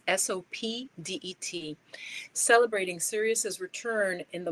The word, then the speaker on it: Sopdet: I'm not pronouncing it right. It's Sopdet, celebrating Sirius's return in the morning sky as part of the farming season and the beginning of a new year.